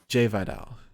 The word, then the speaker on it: Jai Vidal: uh the giant vidal jai vidal jay vidal yes because it's spelled like jai yeah i don't know